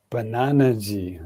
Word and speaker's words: Bananaji: Bananaji. That's how you say it.